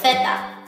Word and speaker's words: zeta: 有 Z，它的西班牙文名字叫做 Theta，它的发音就跟英文